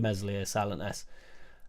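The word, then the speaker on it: Meslier: nine he didn't mention mesli silent s because you know he's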